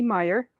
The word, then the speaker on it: Myhre: First, I'm Heidi Meyer, and my last name is spelled Myhre.